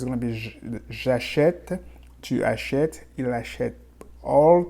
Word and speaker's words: achète: So for je, you're going to say j'achète.